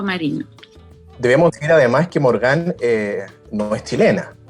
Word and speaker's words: Morgane: En Chile suelen llamarme Morgana, debe ser como más fácil por el acento, la entonación, pero mi nombre se pronuncia Morgane.